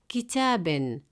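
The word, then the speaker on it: كتابٍ: With Tanween kasra, it sounds kitabin, still a book, with the final sound in.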